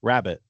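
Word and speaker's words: rarebit: and it's called Welsh rarbit. Oh, sure. Uh-huh. Or is it Welsh rabbit? Yeah. Rabbit. Like that's it. I always I always understood it was supposed to be rabbit, but it's spelled rare bit.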